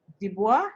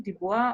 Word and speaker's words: Du Bois: All right, so there's a lot of research, for example, by William Dubois. Is that how you say his name? Dubois or Dubois? D-U-B-O-I-S. I think it's Du Bois. Du Bois, exactly.